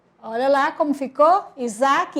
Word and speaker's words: Isaac: com som de z Isaac olha lá como ficou Isaac escrito com s porém o s tem som de z porque está entre a vogal I EA vogal a Oi Rosane vamos juntar